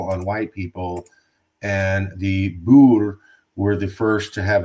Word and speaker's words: Boer: Bo thank you Bo Bo uh yeah I think phonetically you might in America you might say b o o r like Bo yeah Bo there it